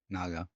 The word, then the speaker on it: Nager: I'm hopefully um pronouncing that correctly. Yeah. Naga.